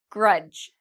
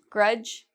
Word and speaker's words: grudge: Grudge. Grudge, same rule, D and G together.